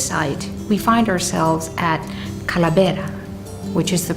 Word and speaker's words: Kalabera: here at this site we find ourselves at Cala betta which is the pronunciation in tomorrow but that particular word comes